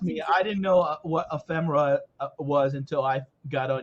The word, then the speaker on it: ephemera: Ephemera? Ephemera. Yeah, that's it. Yeah. Ephemera. Ephemera. That sounds like a condition. It sounds really good too. People want that. Well, trust me, I didn't know what ephemera was until I got on YouTube last year